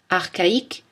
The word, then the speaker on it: archaïque: Mais attention, dans certains mots, CH se prononce K. Archaïque, archéologie, bac, cholestérol.